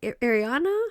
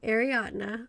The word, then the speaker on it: Ariadna: How do you say your name again? Ariana? Like Grande? I'm like, no, Ariadna.